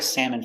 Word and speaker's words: salmon: had salmon for lunch pronunciation salmon a salmon is a fish and i like to eat salmon for lunch salmon sam sam eh salmon salmon salmon let's practice